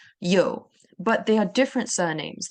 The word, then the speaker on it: Yeoh: And Yeoh is actually yang in Mandarin. So Yeoh is a more of a Hokkien, which is a Chinese dialect pronunciation.